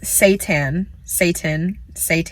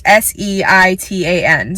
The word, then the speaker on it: seitan: Another one that I have actually never tried before is, it's pronounced seitan, whatever. Not too big of a fan of what it's named, but it's seitan.